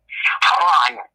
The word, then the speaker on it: Haran: It's pronounced Haran. That's what I heard.